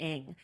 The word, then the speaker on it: Ng: Celeste Ng, I guess. Celeste Ng. Her like handle on social media is like, it's pronounced Ing.